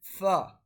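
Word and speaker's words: ف: After that, letter alphabet fa. So method for pronouncing fa is when the when the inner center of the bottom lip touches the edge of the upper incisor.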